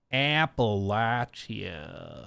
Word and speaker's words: Appalachia: out of your mouth Appalachia that's how you got to do it is where you go